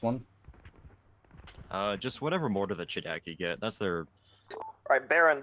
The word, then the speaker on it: ChDKZ: It ends up getting pronounced as Chidaki.